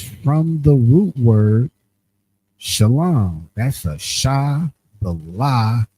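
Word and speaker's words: שלום: The transliteration is that salom salom which is pronounced sha lom which you see was kind of like that second one they added the vow you go down.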